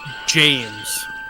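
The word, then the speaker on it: Mejahmez: heck okay so the name m e j-a-h-m-e-z is pronounced that this is his real name drum roll pronounced james regular old james man what a bummer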